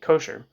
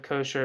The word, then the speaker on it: kosher: kosher in English s kosher from the Ashkenazi pronunciation of the term that in Safari or